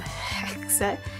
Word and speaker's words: HEYULLL: This is HEYULLL. You have to pronounce it as if you're like snarling.